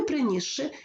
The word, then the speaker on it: принісши: впливу наступного звука ось глянемо на слово принісши у слові принісши спочатку є с свистячий потім ши- шиплячий у вимові с ніби перестає існувати він перетворюється на Ш і ми Таким чином вимовляємо принісши тобто ш подовжений звук у слові розжарений